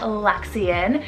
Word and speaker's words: Luxian: and swedish meaning secret luxian spell l-u-x l-u-x-i-a-n lexian this one means man of light damian spelt